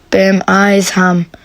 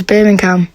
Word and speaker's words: Birmingham: it was an accident i meant to pronounce it bam eyes ham but i was when i was voice recording i read it out as birmingham and only realized after